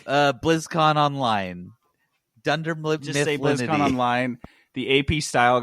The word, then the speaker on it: BlizzConline: have a speech impediment why do you keep saying it wrong it's blizzcon online and he's like brother